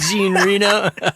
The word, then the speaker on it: Jean Reno: I just totally butchered that. Jean Reno.